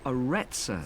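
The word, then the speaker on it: Arretsa: It's called the Aretsa Center. That's spelled A-R-R-E-T-S-A.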